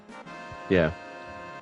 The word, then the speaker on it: ye: Yeah. That ye, the Y in ye isn't a Y, it's a rune. It's a TH. It's a rune that's pronounced It's a thorn.